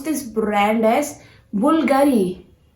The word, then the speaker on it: Bulgari: Well, this brand, how do you pronounce it? Bulgari. No, guys, this is not Bulgari. You have to pronounce this brand as Bulgari. Bulgari.